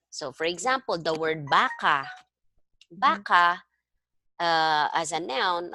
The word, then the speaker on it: baka: want to say baka, Baka. okay, this is maragsa, baka, or Yeah. mabilis, baka. There's no, not baka, no, Mhm. baka. Okay? That is mabilis, but this means maybe.